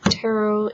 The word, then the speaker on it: tarot: Hi, this video is going to be about tarot cards, which some people call tarot cards, but tarot is the correct pronunciation.